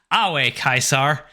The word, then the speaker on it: Ave Caesar: follow New Vegas that Ave Caesar was actually pronounced away kaisar yep well I mean